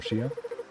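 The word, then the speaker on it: Shea: Oh, Shay or Shia? That was Shay. Yeah. Well, S-H-E-A. How do you pronounce it?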